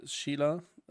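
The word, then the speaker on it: Síle: Ja, zum Beispiel sie, Sheila. Wo ich glaube immer noch glaube, dass eigentlich Shiala ausgesprochen wird.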